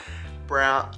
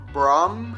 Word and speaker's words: Braum: title we are installing some brown brom i believe is how you pronounce it brom seats on the lexus